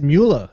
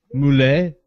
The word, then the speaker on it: Mueller: Okay, so it's Mueller. It's not Moulet.